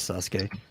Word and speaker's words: Sasuke: Yeah, that's how you pronounce it, Sasuke.